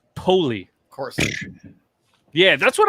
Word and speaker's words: Poly: how would you guys say that p-o-l-y p-o-l-y wally yeah polly okay apparently it's pronounced poli of course yeah that's what i said that's